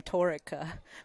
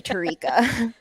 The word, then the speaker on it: Tarika: got swapped around but i've always pronounced her name torika which is i had her on my podcast and i think i just now realized that i said her name the whole time totally tarika whoops sorry tarika i'm really